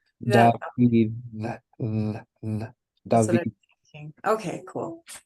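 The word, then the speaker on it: דוד: Or is that Yeah, you're going to pronounce it with your tongue in between your teeth and doing kind of like a TH sound. that? David.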